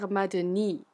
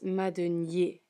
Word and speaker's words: Madenié: are saying uh pierre madani or something along those lines well when there is an accent on the e right there um it's madunyi so you make kind of like that ye sound just so you know